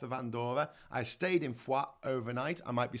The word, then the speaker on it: Foix: I stayed in Foix overnight.